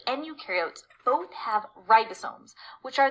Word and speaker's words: eukaryote: So one way I like to tell students to remember this, eukaryote, the U rhymes with do, they do have membrane-bound organelles, and prokaryote, the pro rhymes with no, and they do not have membrane-bound organelles.